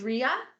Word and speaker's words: Drea: Is it Drea? It's Drea. Like Andrea.